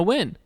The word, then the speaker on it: Wynn: And then the final one, speaking of win, Hannah Wynn. That's how you pronounce her last name.